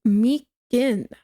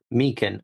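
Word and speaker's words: Meechan: Dank's last name is pronounced as Meekin. Meekin.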